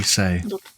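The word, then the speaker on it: Sei: a conversation my lady I would call me say call me say pronunciation s exactly as you said yeah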